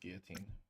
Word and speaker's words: guillotine: It's pronounced guillotine.